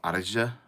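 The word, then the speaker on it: Éire: that is how it is spelled but it's pronounced AR and it's um what why am I doing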